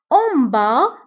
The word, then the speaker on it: en bas: En bas, en bas, fil asfal, en bas. فبالنسبة لان با نكتبها بأس في آخر الكلمة ولكن لا ننطقها.